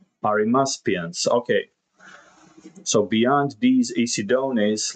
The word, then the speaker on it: Arimaspians: the one-eyed, so let's see if we can pronounce this correctly. It's Arimaspians.